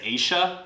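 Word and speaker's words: ella: like she talks and instead of saying Aya like e-l-l-a they say Asia so that's the same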